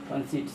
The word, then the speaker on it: conceit: ई I equal to हर C, ceiling, कंसीट, इसको ceiling पढ़ते हैं CEILING ceiling, कंसीट CONCEIT कंसीट।